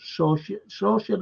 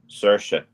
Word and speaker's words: Saoirse: I could never, ever pronounce her name. Saoirse, is it? Saoirse.